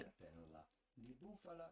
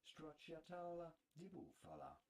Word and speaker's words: stracciatella di bufala: Stracciatella di bufala is how it would be said in Italian, but it'd be fine in English to say stracciatella di bufala.